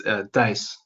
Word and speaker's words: Thijs: I think only in the Netherlands people would say it correctly, but it's THIJS.